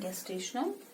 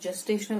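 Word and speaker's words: gestational: अब हम स्टार्ट करने जा रहे हैं गेस्टेशनल असेसमेंट, या आप जेस्टेशनल असेसमेंट भी बोल सकते हैं। आप अपने प्रोनाउंसिएशन में इसको बोल सकते हैं।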